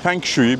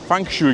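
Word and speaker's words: feng shui: Bu arada Shanghai Halk Meydanı fengui. Biz fengu diyoruz ama bunlar fankşu gibi bir şey diyorlar.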